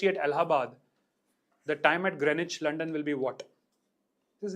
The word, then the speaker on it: Greenwich: which I used to pronounce as green witch. Knife. It's Greenwich.